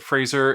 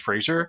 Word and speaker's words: Fraser: uh yeah so uh I think you're supposed to pronounce it Fraser if there's no I and then if it's like the TV show pronunciation the pronunciation is Frasier but my you know